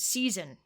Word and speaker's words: season: Same thing with the word season. Right. There's an S when you spell it, but you say it with a Z. Season. So, those are both examples